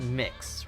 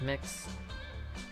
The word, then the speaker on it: Mx: but it is pronounced mix right MX is pronounced as mix correct me and chat